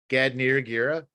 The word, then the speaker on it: Gad Niyiragira: If you get one in the next few seconds, I want to thank Gad Niyiragira.